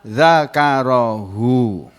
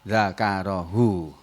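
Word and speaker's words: ذَكَرَهُ: A'udzubillahi minasyaitonirrajim, faman syaa dzakarahu. Begitu kalau membaca biasa, bukan tilawah. Tapi kalau membaca tilawah ya harus ta'awudz dulu. A'udzubillahi minasyaitonirrajim. Faman syaa dzakarah. Begitu bacanya ya. Tidak boleh seperti tadi, faman syaa dzakarahu.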